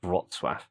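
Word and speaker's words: Wrocław: Poland in uh in what how do you pronounce it rotswaff this is a 4.6 billion dollar investment essentially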